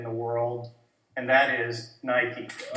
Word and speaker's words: Nike: They're the #1 sports and fitness brand in the world, and that is Nike. Nike! Eh sì, la E si legge I.